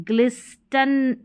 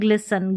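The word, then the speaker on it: glisten: यहाँ पर भी एस टी एल ई है और इसमें टी साइलेंट है, इसको भी अब यहाँ पर देखें ग्लिस्टन नहीं पढ़ेंगे, ग्लिस्टन नहीं, ग्लिसन, ग्लिसन।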